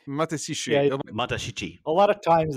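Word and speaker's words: Matashichi: mat basically sounds like matashi it sounds like matashi but it's matesi matashi a lot of times they just kind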